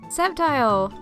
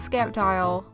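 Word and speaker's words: Sceptile: calling this thing Raichu septile a lot of people don't know that this thing actually has a silent SE so it's not skepti Aus arus this is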